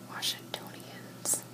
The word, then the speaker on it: Washingtonians: should have jobs alright so residents are called washingtonians this on the third syllable pronounced as stone so Washingtonians yeah yeah